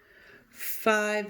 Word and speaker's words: five: that dash in there five is one of our site words so I'm sure five is not too tricky remember it has that long I and that silent e at the end great now we're going